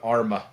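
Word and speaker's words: Armagh: I'm going with Arma. It's not, but I'm going with Arma. This is Arma. They fucked it up. Good enough. That is actually shockingly close to the Irish pronunciation.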